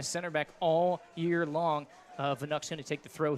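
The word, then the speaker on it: Wnuk: And it's Vanuk, spelled with a W. W-N-U-K.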